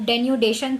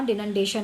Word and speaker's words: denudation: एक वर्ड मैंने गलत प्रोनाउंसिएट कर दिया, वो डेन्यूडेशन था, डिनडेशन नहीं.